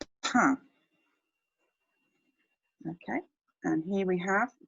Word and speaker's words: pain: Now, it looks like the English word for pain, but we pronounce it pain, pain.